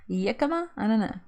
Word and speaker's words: jicama: you all ever tried jicama fries jicama jicama i don't know it's jicama dick it's a j it's spelled with a j but i know it's